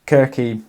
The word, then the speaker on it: Circe: So I only found out recently that Circe should actually be pronounced Kirky because Greeks didn't have soft C's. I'm still going to go with Circe because it sounds better.